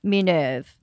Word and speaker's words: Minerve: towns of Carcassonne and mineve at least that's how the French pronounce it did you ever read